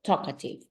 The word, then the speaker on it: talkative: three which syllable talkative remember that is not the same as I do the emphasis or the stress like TOA or Toka sounds different right so talkative one two or three